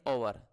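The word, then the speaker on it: hour: work with in एन ववर यह H silent ओ होगा ए मैन of regular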